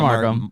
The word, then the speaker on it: Markham: With us here in studio, Tyler Markham is how you say that, right? Correct. Yeah, Tyler Markham.